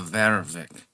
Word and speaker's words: Warwick: That's the original pronunciation of our family name. Originally, it was not Warwick. It was before that Warwick, and then before that it was Varvik. They didn't really have a W in their vocabulary.